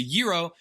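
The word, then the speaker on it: gyro: Okay, it's not a jiro, it's a euro and the g is silent.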